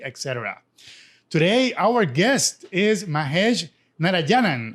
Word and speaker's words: Mahesh Narayanan: today our guest is mahesh narayanan i hope i'm pronouncing your name right that's correct all right he's a program